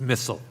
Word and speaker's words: Missal: Missal, am I pronouncing your name correctly? It's Missal.